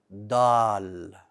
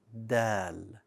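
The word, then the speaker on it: دال: know what that means back of the tongue is flat do not make it bold do not say dal that's incorrect it's dal like a soft d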